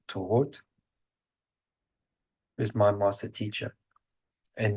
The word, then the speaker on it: Thoth: My master teacher is, Europeans know him as Thoth. The correct pronunciation, Egyptian pronunciation, is Tohot, who's my master teacher.